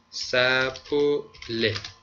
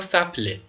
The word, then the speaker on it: s'appeler: دو ضمیره بهش میگیم، فارسی میگیم دو ضمیره، سپوله فعلمون هست چی؟ سپوله. بعدن میگیم مثلا فعل دو ضمیره چیه، چرا بهش میگیم دو ضمیره. سپوله سپوله یا سپله، هم میتونید بگید سپوله، هم میتونید تلفظش کنید سپله، پس انفینیتیف یا مسترش هست سپله یا سپله.